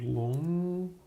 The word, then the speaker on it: Loong: I need to get used to pronouncing long.